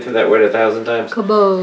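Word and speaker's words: כָּבוֹד: Kabod. Kabod, very good.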